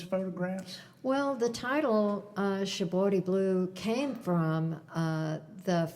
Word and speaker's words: shibori: Shaboti. Shabori. Shabor. I can't you don't in Japanese. You don't really say an R, so it sounds more like a D.